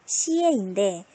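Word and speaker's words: 写: 시옷이랑 이에니까 어떻게? 시에인데 성조가 몇 성? 제3성. 그럼 어떻게? 시에 이렇게 되겠죠.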